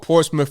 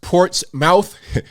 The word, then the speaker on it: Portsmouth: in a place called portsmouth virginia and if you want to look it up it's pronounced port's mouth we say portsmouth that's